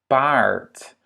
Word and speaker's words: paard: Paard, paard, ja? Paard, un A long parce qu'il y en a 2.